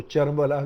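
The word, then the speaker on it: كربلا: کرد کاف کو چے تلفظ کرتے ہیں، کربلا کو چربلا کہیں گے.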